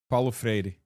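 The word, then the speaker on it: Paulo Freire: Palo Freri. Freri. Whoa. Um, it's a tough one. It's like two D's. Two Rs. Yeah, I know. But it's like very soft.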